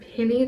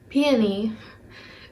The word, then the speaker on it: Peony: So they have that, and then they're coming out with a double cheeked up cream blush duo and penny drop wait, how do you say it? Peony.